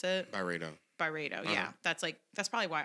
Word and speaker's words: Byredo: what I do with the Barati one, or however you pronounce it. Byredo, Byredo.